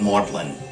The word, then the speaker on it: Magdalen: a fellow here at marlin college named after mary magdalene but keeping its middle english pronunciation of maudlin lewis was 26.